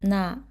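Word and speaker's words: 나: So this one is na. As you remember, this consonant is n and this one is a. So you combine these two and get a sound na.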